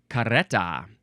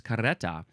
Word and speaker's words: carreta: Next word, carreta. There is the double R there, so I think it is good to do the little tongue flutter.